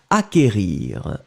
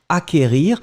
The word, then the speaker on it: acquérir: qu une accent aigu r ir d'accord donc acquérir acquérir le sait qu en fait vous ne prononcez pas vraiment de 2,2 vous n'allez pas